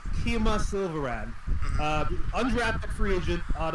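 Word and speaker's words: Kemah: Keem is pronounced Kima Silverand.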